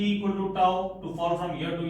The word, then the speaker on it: tau: Tau we pronounce like this, T-A-U.